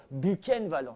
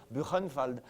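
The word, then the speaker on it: Buchenwald: mot je connaissais d'ailleurs on le prononcé à la française bukenvald non on aurait dû dire buenfald mais mon bukenvald ça avit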